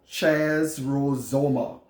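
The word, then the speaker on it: χαρίζομαι: way this word forgiving and the Greek is pronounced Chaz rules OMA CH AR i zo m AI and it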